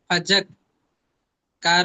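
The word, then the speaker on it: فذكر: ভাই বিসমিল্লাহির রাহমানির রাহিম ফা জবর ফা জাল কাফ জবর জাক ফাজাক কার রজের কির ফাজাক্কির হামজা হামজা হামজা নুন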